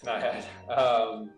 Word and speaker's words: Naiad: You currently are a creative director at Naiad Studios. Is that pronounced correctly? Yes, Naiad.